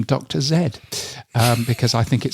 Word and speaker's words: Dr. Zed: Uh this year's celebration will feature a live performance of Hangin with Dr. Zed. I know he's supposed to be pronounced Dr. Z, um but I'm going to call him Dr. Zed.